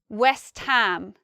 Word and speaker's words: West Ham: say in our and here we have an exception these are all um but this one is actually ham West Ham West Ham is another